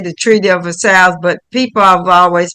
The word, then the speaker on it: Versailles: It's a French Versailles. word. Versailles. Yep. Okay. Versailles.